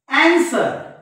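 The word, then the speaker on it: answer: असतो विद्यार्थी मित्रहो या एस नंतर जर डब्ल्यू आला इंग्रजीच्या शब्दांमध्ये स्पेलिंग मध्ये तर हा डब्ल्यू शांत असतो बघा एस डब्ल्यू ओ आर डी आणि त्याच्यानंतर एन एस डब्ल्यू इ आर बघा अन्सर अन्सर अन्सर म्हणजे या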